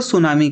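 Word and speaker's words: tsunami: पहली बात तो ये वर्ड ही जापानीज़ वर्ड है जिसमें टी साइलेंट होता है और हम इसको सुनामी कहते हैं।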